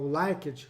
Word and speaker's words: Likert: A visão comportamental, aí, por exemplo, quando nós pegamos o Likert, ou Likert em português mesmo, né? Eu prefiro fazer a pronúncia em português, ele vai apontar assim,